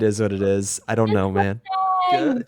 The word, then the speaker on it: Gurt: Gert, G-E-R-T. Yeah. Gert. G-U, like yogurt.